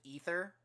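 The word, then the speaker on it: Aether: year or the ether I think it's spelled with an A but they pronounce it ether and so it's a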